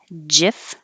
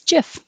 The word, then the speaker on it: GIF: of english when an i comes after the letter g it sounds like a j so looking at this by itself it would make sense that people would guess jif if you want to